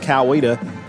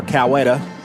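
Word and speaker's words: Coweta: Carolton 4313 lead over uh East Kawita or Kawetta Kawetta. Kawetta or Kawita, whichever, however you want to pronounce it.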